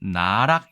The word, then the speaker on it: 奈落: 이 문자 는 " 나락 " 으로 읽힙니다 .